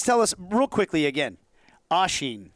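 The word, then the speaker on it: Oisín: us real quickly again oshin right that's how we say it how do we spell it o-i-s-i-n okay there's a little photo on the eye and that's and that's gaelic yeah it's gaelic yeah and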